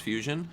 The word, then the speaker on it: FUS1ON: And today I have the PowerA FUS1ON controller, which is spelled FUS1ON, so FUS1ON, but it's pronounced Fusion.